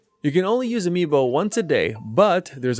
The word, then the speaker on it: amiibo: you've used the amiibo also plural amiibo is pronounced amiibo that tip is free